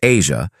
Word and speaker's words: Aja: Their son, Aja, pronounced Asia, was born on August 12, 2001.